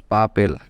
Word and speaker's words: papel: Okay, you can pronounce it perfectly by PA at once, pa, and PEL, so it becomes papel. Object number 7, telephone in English called telefono.